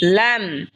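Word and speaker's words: لام: এরপর হলো লাম, লাম জিহ্বার আগার কিনারা সামনের ওপরের মারির দাঁতের সঙ্গে লাগা উচ্চারণ হবে লাম।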